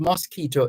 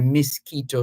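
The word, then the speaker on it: Miskito: mosquito or mosquito Indians they're called mosquito Indians from the English pronunciation of their Homeland the misquito shore of Central America which is now part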